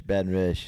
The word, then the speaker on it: Baton Rouge: You got to know how to say it. Rouge. Rouge. Rouge. Baton Rouge. It's like a Donald Trump sound.